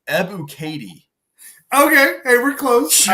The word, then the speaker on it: Ebiketie: By the way, it's Ebiketie. Okay, hey, we're close. Sure. I don't know. Thanks, Pro Football Reference. Trying to pronounce people's names.